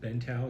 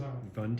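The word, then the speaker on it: Vũng Tàu: How were when you went to, was it Bentau? Is that you pronounce it? Vungtau.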